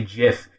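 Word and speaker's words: GIF: a crazy thing because the people who say jiff they've got a backstory behind it because the creator says jiff so the very least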